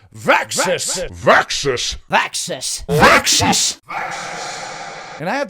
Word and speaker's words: Vaxis: reviews you might know I don't just say vaxis no I have to say it like this vxus vxus vaxis and I